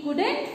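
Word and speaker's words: could: Okay देखो यहाँ दिया हुआ है CULD, ओके ये कुल्ड नहीं है, यहाँ पे एल जो है वो साइलेंट है, इसे कुल्ड नहीं रीड करेंगे, है ना। ये छोटी छोटी बातें हैं बेटा जो आपको बिल्कुल ध्यान में रखनी है, तो हम इसे क्या रीड करते हैं, कुड, कुड।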